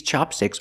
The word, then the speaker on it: chopstick: the pronunciation is different chapstick use a short a sound like black cat ChapStick and Chopstick use the short a like hot and stop Chopstick but also Chopsticks come